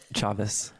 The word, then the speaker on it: Chaves: Say your last name for us so I don't mispronounce it. Oh, yep. Chavez.